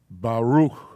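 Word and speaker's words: ברוך: It's best to pronounce it in a word. Baruch.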